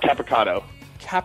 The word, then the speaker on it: Capicotto: hope you enjoy thanks actually how do you pronounce your last name I'm sorry oh caado caado okay capato capato okay it's tough it's super Italian lot